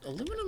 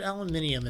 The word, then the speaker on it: aluminium: Actually, is it aluminum or is it aluminium in this?